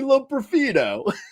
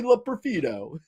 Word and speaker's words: Loperfido: Have you heard his name pronounced yet? It's Joey Loperfido. What's the problem? Hey, what's going on? It's Joey Loperfido.